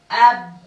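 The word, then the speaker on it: أب: Together it is pronounced ab, ab, ab, ab.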